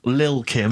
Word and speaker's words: Lil Kim: I'm pronouncing that correctly, Lil Kim. Oh, no T's involved.